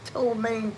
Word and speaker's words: ptomaine: But it's a P that goes in front.